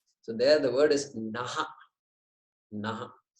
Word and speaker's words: नः: There is a visarga there. There are two dots there. And so that must be pronounced. So that we indicate we are saying naha, not na.